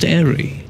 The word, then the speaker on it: Airey: The E is silent. Still pronounced Airey.